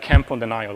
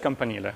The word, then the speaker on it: campanile: It's maybe one way to really mispronounce it, you could say campanile or whatever, or like camp on the Nile or whatever. I don't know. It's just campanile, so that one doesn't